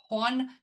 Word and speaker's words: Juan: Um also his name Juan Cast I can't why do I keep want to pronounce the J? Juan Castillo is in English Johnny Castle.